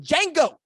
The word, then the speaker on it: Django: 2018 Oklahoma Sooners problem like the D in Django. The defense is silent.